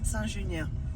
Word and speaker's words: Saint-Junien: It's called Saint-Junien. How's it pronounced? Saint-Junien.